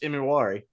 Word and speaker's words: Imawari: oh, Nick E, because nobody knew how to say his name and didn't want to mess it up. And then once people figured out how to pronounce it, that's all anybody calls him now is just Imawari, because we're proud.